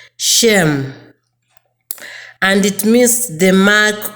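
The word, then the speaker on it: שֵׁם: The name in that verse comes from a Hebrew word pronounced Shem, and it means the mark or appellation of honor, authority, and character.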